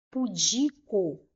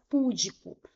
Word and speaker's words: pudico: Ao invés de falar pudico, elas falam púdico, como se aqui tivesse um acento e não tem, tá? Então a pronúncia correta é pico. Pudico. O di é a sílaba mais forte, é a sílaba tônica, então é uma palavra paroxítona, ok?